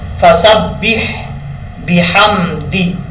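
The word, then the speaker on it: فسبح بحمده: ہیں فسبح بحمد ربک۔ ایسا نہیں پڑھنا، آپ نے تجوید کے ساتھ اس کو ادا کرنا ہے تاکہ ہر حرف جو ہے اپنے مخرج سے ادا ہو۔ ہجے کر کے آپ کو بتاتا ہوں۔ فاد برفا، سین بعد سب، فسب، با حاضر بح، فسبح، بعد بی، حامیم زبر حم، بحم داد دی، بحمدی، فسبح بحمدی، ٹھیک ہے۔ اس طریقے سے ادا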